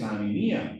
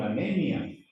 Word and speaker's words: anemia: Esa palabra tiene un detalle curioso aquí cuando dice Hugo Carlo, en portugués anemía, en español anemia.